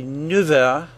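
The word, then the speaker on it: neuf heures: Its F sound changed to a V sound, F a V. We say 9 heures.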